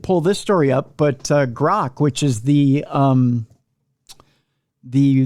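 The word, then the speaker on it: Grok: didn't I didn't pull this story up but grock which is the um the the one recently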